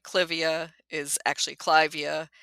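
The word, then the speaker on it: Clivia: like cvia is actually clavia after Lord Clive um but we've all agreed uh we the general plant nuts have decided we're gonna say civia yeah yeah um so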